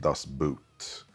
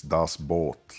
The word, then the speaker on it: Das Boot: And just for you English-speaking fans, even though it's spelt B-O-O-T, it's not pronounced Das Boot. It's Das Boot, like in German, you know?